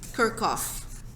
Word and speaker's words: Kirchhoff: oh in your calculator this is pronounced kerkhof they used to be